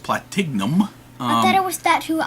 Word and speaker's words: Platignum: Well, it's the G silent Platinum. Platignum. There's supposed to be a silent G. I know, but it's more fun to pronounce the G.